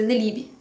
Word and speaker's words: Nélibe: E a pronúncia em francês é Nelib. A sílaba mais forte na língua francesa é o li.